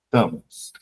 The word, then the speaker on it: Tamas: Tamas. Tamas. Tamas. Assim mesmo como se escreve.